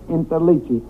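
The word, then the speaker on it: Interliggi: My name is Interichi.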